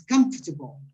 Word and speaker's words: comfortable: see it very good if you if you stress it correctly on the first syllable on the left the sound the syllable in the in in the middle almost disappear sometimes it disappears completely comfortable again hello I say